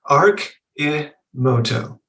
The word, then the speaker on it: Arcimoto: It's Arcimoto. And the ARC stands for archetype or future. The I stands for the individual. And moto stands for transportation.